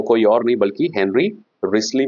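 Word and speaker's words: Wriothesley: है हेनरी रिसली है हेनरी जिसको हम डब्ल्यू आर आई ओ टी एच ई एस एल ई वाई यह प्रोनाउंस किया जाता है रिसली दरअसल हम लोगकि नाम में थोड़ा सा ये टिपिकल नाम है इसलिए जो है इसको प्रोनाउंस करते हैं रिसली हेनरी रिसली या फिर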